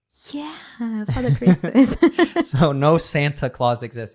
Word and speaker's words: Santa Claus: Santa Claus. This is funny too, because Brits don't even say Santa Claus with a true T because they call him Father Christmas. Yeah, Father Christmas. So no Santa Claus exists.